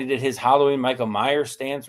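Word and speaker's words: Meyers: Jacobe Myers. I got to make sure I pronunciate that with Michael Meyer there.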